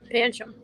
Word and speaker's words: Pancham: Pancham. Sure. Or at least that's how they pronounced it in the anime on that one.